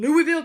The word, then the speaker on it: Louisville: 2007 tower power in louisville kentucky wendy because of you i will pronounce it louisville because i would have called it louisville and that's incorrect louisville louisville a 13 year